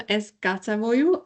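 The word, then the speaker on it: Es gatavoju: With us today, we have Karina Lemberga from Eskatavoju. I hope I pronounce it rightly, which means I cook. Did I pronounce it right? Yeah.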